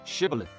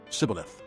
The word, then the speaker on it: Shibboleth: "All right, say Shibboleth." If he said, "Sibboleth," because he could not pronounce the word correctly, they seized him and killed him at the fords of the Jordan.